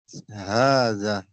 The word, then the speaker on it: هذا: Notes, هذا is pronounced هذا, but it is written without the first alif.